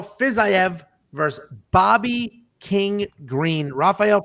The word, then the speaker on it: Rafael: half alphas i have i always do the brazilian pronunciation of these names but he's not brazilian so it's not rafael it's ra phael this will be a